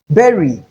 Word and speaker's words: berry: Berry rhymes with very. So, notwithstanding the fact that we have letter U here, it is realized as A. So, it is be and not boo or what have you.